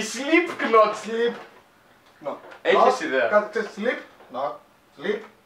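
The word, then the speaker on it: Slipknot: fuck sleep η sleep sleep not έχεις δέ κάτ ξέρει sleep not sleep not sleep είναι sleep not το κ δεν προφέρεται άμα δεν ξέρεις αυτή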